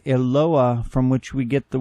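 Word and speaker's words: Eloah: each of these languages in Aramaic it is Ayla in Arabic it is Allah and in Hebrew it is eloa from which we get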